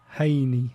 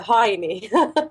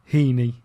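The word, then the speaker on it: Heini: I'm gonna ask you the correct pronunciation of your first name is it hini yes hey it's h-e-i-n-i Haney hi yeah okay that's people visit to a high knee sometimes but but it's actually hini that's brilliant wonderful well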